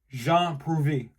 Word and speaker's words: Prouvé: Jean Prouvé.